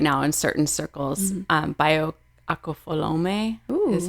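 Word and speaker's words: Bayo Akomolafe: Bayo Akofolome is how you pronounce his name.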